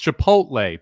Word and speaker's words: Chipotle: They put like the L before the T. I think Chipotle was actually even closer than the actual pronunciation of it. It's Chipotle, people. Chipotle.